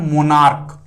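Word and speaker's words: monarch: Nouns होते हैं दोस्तों उसके लास्ट में सी एच होता है, और उसकी जो प्रोनाउंसिएशन जो होती है दोस्तों वह च नहीं होके वह क होती है। जैसे एग्जाम्पल लेते हैं हम लोग, जैसे एक वर्ड लेते हैं मोनार्क, राइट।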